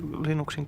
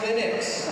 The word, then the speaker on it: Linux: How do you pronounce Linux? Well, I pronounce Linux as Linux. However, the total answer to that is, if you are Linus Torvalds, you probably pronounce it as Linux.